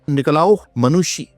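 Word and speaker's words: Niccolao Manucci: ये फ्रेंच थे फ्रेंकोस बर्नियर और इसी तरह फिर मुगल कोर्ट के एक तबीब थे जिनका नाम था निकलाओ मनुषी। That's how it's pronounced.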